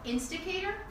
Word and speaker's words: Insticator: Zach is the founder and the CEO of Instigator. Yeah. Am I pronouncing it right?